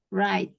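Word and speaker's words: write: surat untuk guru saya Benar tulisannya kan right gitu ya Tapi bacanya kuenya itu silence jadi right cara bacanya gitu right Coba baca ke Everest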